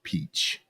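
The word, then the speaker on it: Hachette: approach by the way Google says this is pronounced peach peach peach all right but it's interesting to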